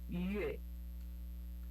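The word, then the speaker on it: 月: É Yue.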